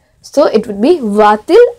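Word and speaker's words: va-t-il: But when I say va il, it's not that smooth pronunciation. So, for a better pronunciation, whenever two vowels come together like this, and especially in inversion, we add a T between them. So, this would be va til à l'école. So, when you add a T, so the pronunciation is now much smoother.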